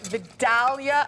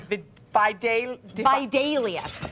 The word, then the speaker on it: Vidalia: Now, they're Vidalia onions, although our producer says Vidalia. Casey says that in the South they pronounce it Vidalia.